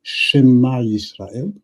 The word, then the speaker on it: Shema Yisrael: So in biblical Hebrew is Shema Yisrael, meaning listen. But if I say Shama Yisrael, it means Israel has heard.